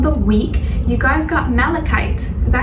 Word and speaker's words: malachite: And as your crystal of the week, you guys got malachite. Is that how you say it? Malachite or malachite? I think it's malachite. M-A-L-A-C-H-I-T-E. Yeah, malachite.